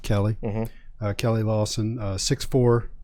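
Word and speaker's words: Keli: so next was uh k-e-l-i we're gonna pronounce it kelly uh kelly lawson uh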